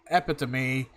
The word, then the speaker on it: epitome: actress Meghan Markle was hailed as the epitome. I mispronounced that fucking word.